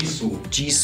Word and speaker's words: Jisoo: Ich würde Jisoo, wie wird die ausgesprochen? Jisoo.